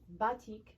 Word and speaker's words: batik: early 1900s indonesia produced batik and that's how it's pronounced bati okay um with a canting